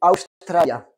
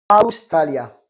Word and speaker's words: Australia: Alors, Australie en espagnol se dit Australia. Australia. D'accord? Il faut prononcer toutes les lettres.